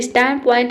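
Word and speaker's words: standpoint: लेकिन स्टैंड पॉइंट अगर एक साथ आ जाए दोनों, तो वहाँ पे डी लेटर को हम साइलेंट रखते हैं, नहीं पढ़ते हैं, ठीक है।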